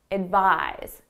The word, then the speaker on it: advise: a stressed sound so you can think of it more as a Z sound it buys so you